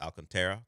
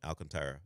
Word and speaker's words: Alcantara: There are multiple ways to pronounce it now. I've always just stuck with Alcantara because sometimes I don't want to roll an R or mess with the back half of his last name, but I've heard it said different ways now.